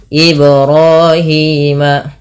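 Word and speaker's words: إبراهيم: Li harakat Kemudian pada lafal ibrahima Ibrahim b-nya dipantulkan ya teman-teman di sini bnya dipantulkan karena ia ada bacaan Qalqalah ro dan Hi sama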